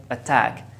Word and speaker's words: attack: Here I have two syllables. I stress the second syllable, so I say attack. The T here is in the beginning of a stressed syllable.